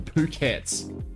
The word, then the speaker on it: Phuket: Phuket is where we're going to so all phukets which probably should be the the best player we pronounce it so um no jokes aside it